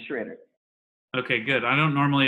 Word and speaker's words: Schroeder: It's pronounced Schroeder. Schroeder, great. But it's annoyingly confusing because it looks so confidently like Schroeder, but as it turns out, that's a trick. It's Schroeder.